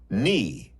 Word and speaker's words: knee: Knot, knife, knee. These are all Viking words. But somehow we have lost the first sounds, and now they are silent. Shh! But look, there is a pattern. A silent K comes in front of N.